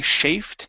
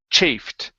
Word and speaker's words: chafed: word here okay um would not be a French word so instead of saying shaed it's going to be CH chaed cha uhhuh I chafed